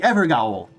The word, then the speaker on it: Evergaol: Or sorry, the Evergaol. Gotta pronounce it properly because they spelled it a specific way to emphasize a specific pronunciation. So it's Evergaol. Not Everjail, it's Evergaol. Here.